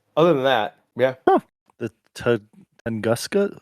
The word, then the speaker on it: Tunguska: The Tunguska? How do you say that word? Tunguska.